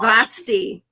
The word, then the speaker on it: Vashti: Brother Stedman said it's Vashti. That's what I thought. So was I saying it right? Vashti.